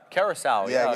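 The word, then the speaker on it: Curaçao: How do you pronounce the word? Curacao.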